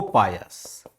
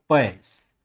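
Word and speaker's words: Paes: जैसे हम कहते हैं, एक मान लो डोमिंगो पायस, नाम याद रखिएगा, पायस, कहीं कहीं आपको ये भी लिखा मिलेगा पैस, ये उच्चारण का फेर है।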